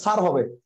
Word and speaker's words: স্যার: হ্যাঁ, তা আমি বললাম ভাই এটা তো সার না, এটা স্যার হবে। কবে সারি তো বলছি। আমি বললাম ভাই সার না স্যার হবে। সারি তো বলছি। আমি বললাম ভাই সার না স্যার হবে, উচ্চারণটা স্যার।